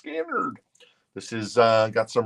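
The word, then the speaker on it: Skynyrd: $14 for Elvis Castello skinnard pronounced skinnard this is uh got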